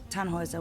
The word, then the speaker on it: Tannhäuser: Tannhauser. We'd pronounce it Tannhäuser with an umlaut.